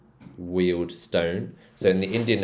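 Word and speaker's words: Harrow and Wealdstone: Northwick Northwick Park Kenton and then Harrow and weldstone wield Stone so in the Indian accent this will be pronounced Stone WI raled Stone this one's not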